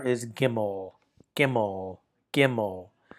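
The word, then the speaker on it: gimel: The third letter is gimmel.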